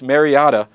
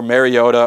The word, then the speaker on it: Mariota: a freshman in West Lunt rard freshman Marcus Mariot or Mariota or Mariota he's got as many pronunciations for that name as orgon has uniform